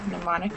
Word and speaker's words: mnemonic: your memory money okay okay silent n sure mnemonic is right here oh type